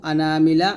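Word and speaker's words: أنا: হয় যেমন আনাবা আনাবু আনামিলা আনাসিয়া আর বাকি যত আনা আছে এই আনাকে আনা পড়তে হয় টান হয় না অর্থাৎ যেমন আনা আবিদ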